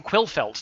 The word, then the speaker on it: Quillfeldt: formats so I'm very pleased to welcome Tom quill felts to the show welcome Tom thank you and you pronounce my surname correctly which stunned me thank